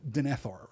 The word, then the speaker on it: Denethor: And I think it probably shouldn't be pronounced Denethor. It should be pronounced Denethor, right? We're supposed to give it that, like, second syllable accent that we give to elven names, right?